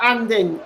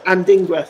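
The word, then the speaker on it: Adingra: picks he picks out anding uh anding anding with a shot and he goes just wide I think that pronounce that wrong it's and dingra sorry I apologize it's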